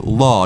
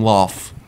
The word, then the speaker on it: Law: Guys, my name is Law, not Lau, not Loff. Law.